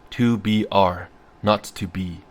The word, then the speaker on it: 2 B R 0 2 B: The 0 in the telephone number he pronounced not. The number was 2BR, not to be.